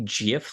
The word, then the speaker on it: GIF: how I say it I say GIF other people say that it's supposed to be GIF like peanut butter no I don't know you say GIF because you're not on